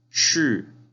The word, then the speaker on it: 是: El verbo ser en chino se dice 是. Es el último tono hacia abajo.